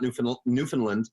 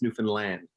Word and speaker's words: Newfoundland: it to be pronounced it's not the Fallon it's not new Newfoundland it's Newfoundland there you go see